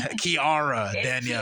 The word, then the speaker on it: Kiara Danielle: You said my name wrong. I know, I was in my head. Oh my God, I said it wrong. It's Kiara Danielle.